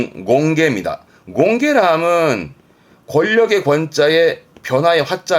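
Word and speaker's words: 権化: 이게 발음이 공개입니다. 공개라 함은 권력의 권자에 변화의 화자 아닙니까?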